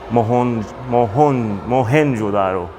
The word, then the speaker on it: Mohenjo-daro: So this is the map of mohenjo, one of the ancient mohenjo-daro.